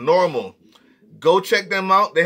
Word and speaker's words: NORML: NORML, not AL, NORML, normal.